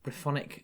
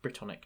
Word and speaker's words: Brythonic: Or a Brythonic language, which is also pronounced Brittonic, depending on how you want to pronounce it.